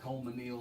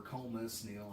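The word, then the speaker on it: Colmesneil: It's you can pronounce it Colemanile or Colemusnile. I guess it depends on how long you've been there, and also factoring in how much cow manure you.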